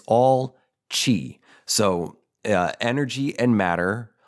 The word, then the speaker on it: Qi: viewed asqi or spelled Qi everything isqi and Chi is what is this it is a it's